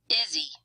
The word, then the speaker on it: Izzy: Izzy. Easy. So Izzy sounds kind of like one word with primary stress on the first syllable, and easy is a 2-syllable word with primary stress on the first syllable.